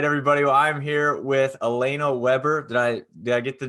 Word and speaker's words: Alaina Webber: Well, I'm here with Alaina Weber. Did I get the name pronounced right?